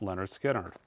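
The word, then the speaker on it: Lynyrd Skynyrd: you should own list we've got leard skinnard pronounced Leonard skinnard this is the 33 RPM version of Leonard Skinner it's second helping we've got the 45 RPM version of Give Me Back My Bullets Leonard skinnard this is a pretty smok and restock this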